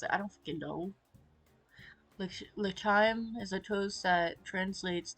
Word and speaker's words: L'chaim: L'chaim? Is it L'chaim? I think it's L'chaim. L'chaim. Okay. Exclaiming some sort of toast, he clinks his cup against my glass. L'chaim. I mimic Meyer's pronunciation, and when he happily nods in approval, we both sip our drinks.